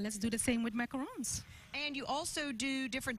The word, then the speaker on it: macarons: She brought macarons because that's the correct way to pronounce it.